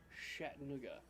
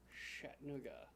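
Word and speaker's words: Chattanooga: is that M ganders pronounced the CH sound like sh like we spell Chi T so it's shat NOOA shat NOA I don't think any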